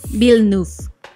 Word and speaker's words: Villeneuve: Villeneuve. Okay, Villeneuve. Yo soy pésimo pronunciando.